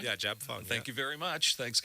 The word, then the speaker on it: JABFUNG: Yeah, JABFUNG.